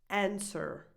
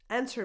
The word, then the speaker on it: answer: The W is silent here. Answer. You just go from the S straight to the Answer. Answer me.